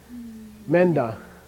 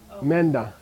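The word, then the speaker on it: མེ་མདའ: How do you pronounce it? Menda. Menda. Okay? It's me, nda. Okay? Me, nda. Crush them together.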